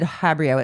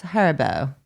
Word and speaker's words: Haribo: Habri is it pronounced har Oh, he said habrio. It's Haribo.